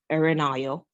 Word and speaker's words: Erinayo: supposed to be pronounced I am quite sure that when people look at my first name they will pronounce it the way they think it should be pronounced but it might not be the right way so my first name is erinayo these are